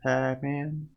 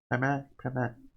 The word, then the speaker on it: Pamac: Never said Pacman. Pamac. Yeah, that's how you say it.